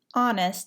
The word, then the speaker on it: honest: Honest has a silent H.